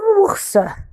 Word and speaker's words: ours: Alors, le quatrième dessin, c'est un ours. C'est un ours. Alors, le O avec le U, on le prononce ou, ou, ou.